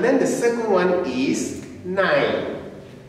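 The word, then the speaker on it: nein: is yeah and then the second one is nine nine can you say it say it loud nine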